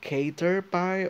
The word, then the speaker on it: Caterpie: Like, is it Caterpie or Caterpie? As in cat.